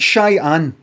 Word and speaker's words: Cheyenne: Shy, like pronounced just like I'm shy, too shy. Anne. Like Cheyenne. Like somebody called Anne, who's shy.